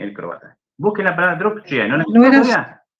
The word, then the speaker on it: drukčije: Busquen la palabra drukčije, ¿no la No era, todavía? no era sonoro, sordo. Sonoro sordo. Bueno, En este Griselda. caso, druk con G, la G pasa a ser K.